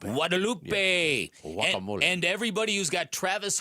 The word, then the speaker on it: Guadalupe: And I think I'm not supposed to pronounce the G. I think it's Guadalupe. Guadalupe.